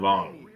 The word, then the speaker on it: Vuong: here with Vuong. Vuong? Did I say it right? Vuong, that's right.